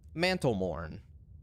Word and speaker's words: Mantlemorn: rhea mantlemorn manful what mantlemorn mantlemorn like you're i don't know it's spelled exactly like it sounds mantle morn without it well without a u uh m-o-r-n yeah i wonder if